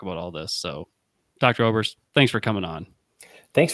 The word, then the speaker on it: Oberst: guest on his name is dr ober oberst dr oberst did i pronounce that correctly you did yeah so as